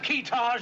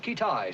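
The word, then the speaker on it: Kitaj: Have we located this fellow Keetage yet? Pronounced Kitai, sir.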